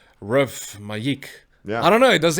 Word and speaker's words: Ruff Majik: And then at some point, then people come to you and they're like, how do we pronounce this? And we say Ruff Majik.